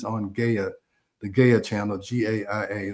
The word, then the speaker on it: Gaia: There's a series on Gaia, the Gaia channel, GAIA, that's how I pronounce it, Gaia, that's called Inner Evolution.